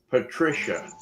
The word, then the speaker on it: Patricia: her name is pronounced Patricia.